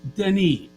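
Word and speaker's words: Denis: say his name which it's denny it's like the blondie song but um but yeah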